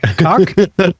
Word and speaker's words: COC: There's a great, gigantic LGBTQ plus organization called COC Netherlands, which David has told me is pronounced cock.